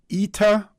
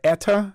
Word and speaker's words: Eta: hurricane tropical storm uh ITA or ETA depending on how you want to pronounce it I think the Americans pronounce it ETA the English pronunciation is ITA you a little stress